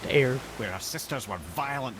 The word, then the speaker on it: Eir: Okay, so now we know her name is pronounced Eir.